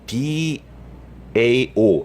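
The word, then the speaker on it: 道: 아니, 그렇게 대단하신 분이 타오 하니까 도대체 타오가 뭘까 했는데, 타오는 중국식 발음이에요. 도를, 길도자를 중국식으로 하면은 DAO 해가지고 D가 T 발음이 납니다. 중국에서는. 그래서 타오를 타오, 한국식 발음으로 타오라고 한 거죠.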